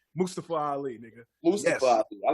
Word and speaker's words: Mustafa: Oh, speaking of names, shout out to Mustafa Ali. So he actually checked everybody on not pronouncing his name right. It ain't Mustafa, it's Mustafa. So okay.